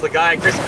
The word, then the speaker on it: Lagiacrus: It's pronounced Lagiacrus.